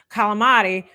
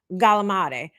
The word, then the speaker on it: calamari: Instead of calamari, you got galamade. Galamad, they'll say.